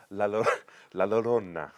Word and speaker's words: La Llorona: it's the curse of La Llorona yeah go for it cuz it's a double L it actually doesn't get